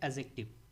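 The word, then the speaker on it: adjective: एडजेक्टिव नहीं पढ़ते, basically पढ़ते हैं एडजेक्टिव। डी को हम लोग प्रोनाउंसिएट नहीं करते, ध्यान रखिएगा, एडजेक्टिव बोला जाता है।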